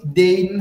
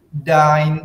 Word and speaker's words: dein: Huruf EI dibaca AI dalam bahasa Jerman. Makanya Heredil nggak baca was is dein Hobby, itu salah. Cara baca yang benarnya adalah bagaimana? Was is dein Hobby?